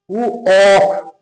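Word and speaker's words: walk: ডাব্লিউ এ এল কে, উ অক, উ অক, এখানে কিন্তু এল এর উচ্চারণ হবে না, ওয়াক মানে হচ্ছে হাঁটা।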